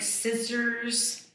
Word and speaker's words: scissors: You get words like scissors, paper. That's a silent C right there.